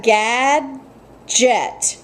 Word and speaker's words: gadget: in the second syllable so i have gad jet so the second syllable starts with the j j and j like me jet okay what we're doing